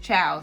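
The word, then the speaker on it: Chao: slices i use the i think it's pronounced ciao c-h-a-o by field roast uh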